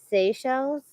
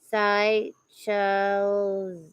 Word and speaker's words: Seychelles: right JT Irby says Seychelles for the pronunciation I'm assuming like the shells okay and then Zack Bandera says sigh show I see the Seychelles